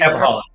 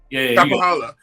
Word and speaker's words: Kapahala: I can't pronounce the last name. Kapahala. Kapahala.